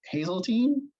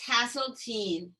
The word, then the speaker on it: Haseltine: panel today is hazeltine if she's here she was earlier hi can you hear me did i did i mispronounce your last name uh it's hasseltean yeah it is spelled